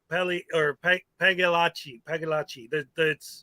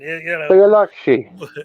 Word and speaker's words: Pagliacci: But one thing I did want to say to Peck, the G is silent. It's Pagliacci. The CC is spelled like an H, like it's Italian, Pagliacci. Yeah, Pagliacci. That's it. Pagliacci.